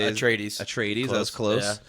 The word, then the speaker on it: Atreides: The only dude you know is Paul Atreides. I think that's how you say it. Atreides.